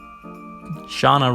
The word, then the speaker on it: Shauna: null see disrupt Shauna Shauna rhymes with Tana who we had all